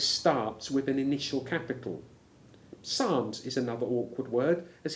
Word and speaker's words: Psalms: say PSAL correctly and the initial P has disappeared except of course when written if you look for an article on Psalms in your Bible dictionary